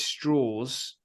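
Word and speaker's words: Strauss: who plays Lewis Straws. That's how it's pronounced.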